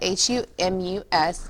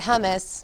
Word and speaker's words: humus: That's how you spell it, H-U-M-U-S, not hummus, not hummus. Say that with me, humus, humus, okay?